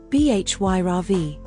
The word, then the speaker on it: Bhairavi: Bhairavi. A goddess from the Hindu tradition. Primary domain, fierce power. Secondary domain, discipline. Pronounced, Bhyravi.